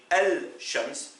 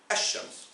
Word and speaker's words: الشمس: Là, on ne peut pas dire Al-Shams, mais Ash-Shams.